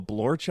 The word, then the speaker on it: blorch: So he turns Merklin into a blorch, I get. Like, fuck off. Yeah. It just rhymes with torch.